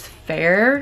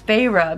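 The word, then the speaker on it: Feyre: met pharah which I literally thought her name was fair at the beginning and I also thought she was a boy but then I discovered her name is pharah because they show how to pronounce it and she's a girl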